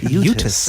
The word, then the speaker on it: Utes: I like the way you pronounce the T. Utes.